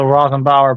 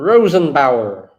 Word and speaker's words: Rosenbauer: The Rothenbauer Panther fire truck. Yeah, this guy does some. I'm really surprised almost nobody knows how to say the name Rosenbauer. cool- Rosenbauer.